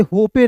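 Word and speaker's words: hope: बिल्कुल ध्यान से देखिएगा कि अंतिम में यहां पे देखिए इ है तो इ यहां पे साइलेंट हो जाएगा। इसे होपे नहीं पढ़ेंगे। ठीक है? इसे पढ़ेंगे होप।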